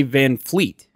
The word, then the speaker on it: VanVleet: people call it that why do they pronounce it that way there's no F why is it van vanvleet fleet is it yeah yeah band fleet yeah eet I only hear anybody say van fleet maybe that's what I